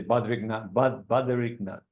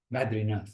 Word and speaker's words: Badrinath: We're going to, let's say, Badrinath. Am I pronouncing the right word? Badrinath. Badrinath. Oh, Badrinath.